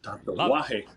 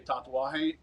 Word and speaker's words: Tatuaje: Tatuaje. Actually, Clay, I'm happy that you say it properly, because if you ever hear Charlie Minato say tatuaje, it's so awkward.